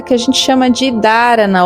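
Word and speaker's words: धारणा: É uma técnica que a gente chama de dharana, ou se a gente fosse utilizar uma pronúncia mais próxima, né, do sânscrito, seria dharana, né? Tipo, esse H tem um som aí.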